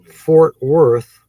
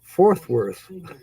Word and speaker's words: Fort Worth: of people do it when you say the Fort Worth it can sometimes come out fourth worth like fourth width or fourth therefore forth with people especially the Yankees mispronounce Fort Worth okay you guess that